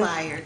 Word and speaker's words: Bayard: Was I saying it wrong? Bayard? Is it Bayard Rustin? Bayard. Okay, see, I learned something today. It's Bayard Rustin and Clayola Brown.